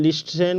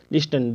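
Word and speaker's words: listen: आई एस टी एन लिस्टन को लिस्टन बोलते हैं क्या बोलते हैं लिस्टन जो जो की सरासर गलत है इसका उच्चारण टी का उच्चारण नहीं होता है ठीक है बहुत सारे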